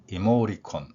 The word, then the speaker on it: emoticon: 모음과 모음 사이에서이 내용입니다 그러면 이모티콘으로 흔히 발음하고 있는이 발음 실제 음에서는 모리콘 빠르게 발음 모리콘 음이 되겠죠이 단어는 이모션이라는